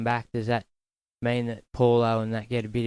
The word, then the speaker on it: Paulo: Is Junior Paulo, or Barlow as they pronounce it, going to keep pumping out good scores or no?